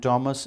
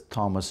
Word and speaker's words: Thomas: And Thomas is usually pronounced as Thomas. It should be Thomas, like we just mentioned, Anthony, not Anthony.